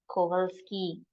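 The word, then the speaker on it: Kowalski: does this mean this means good afternoon Miss kovalski good afternoon Miss kski how to pronounce this in German Gooden tag F kski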